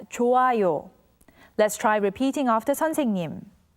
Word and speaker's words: 좋아요: When the character hyut meets with iung, the character hyut becomes silent, so it's pronounced as 좋아요.